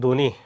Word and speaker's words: ধ্বনি: বফলা উচ্চারণ আসছে অনেকবার শব্দের শুরুতে বফলার উচ্চারণ হয় না। যেমন ধ্বনি দেখো এখানে দ সাথে কি আছে? ব আছে। কিন্তু আমরা ধ্বনি উচ্চারণ করি।